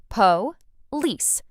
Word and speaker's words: police: Po lice. Together, with stress on the second part, police.